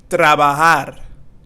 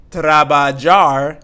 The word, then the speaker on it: trabajar: Trabajar. Trabajar means to work. Trabajar. And we're not going to say trabajar because here the J or the J has that sound. So trabajar and not trabajar.